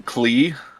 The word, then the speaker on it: Qulis: I'm Klee. Qulis. The S is silent.